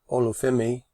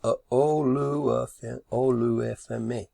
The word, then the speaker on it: Olufemi: But I'll leave Olufemi is how it's pronounced. Olufemi.